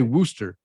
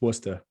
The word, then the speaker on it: Worcester: I'm going to say Worcester, Massachusetts. I think that's how you say it. No, don't, because you're going to get crap for that. It's Worcester.